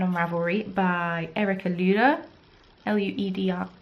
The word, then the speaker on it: Lueder: And it's a free pattern on Ravelry by Erica Lueder, L-U-E-D-E-R. So Lueder is how I would pronounce it with the German pronunciation.